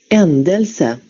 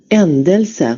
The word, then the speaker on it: ändelse: Que se pronuncia así. Ändelse. ¿Cómo dice? Endelse. Ändelse.